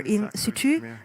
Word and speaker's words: in situ: in situ for example in the style or in situ that's the correct uh pronunciation of that that's an exhibition that will